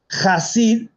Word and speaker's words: Hasid: Entonces, terminológicamente, Hasid significa piadoso, como decía Daniel. Con H expirado. Exacto, con la G, como el madrileño que dice pájaro.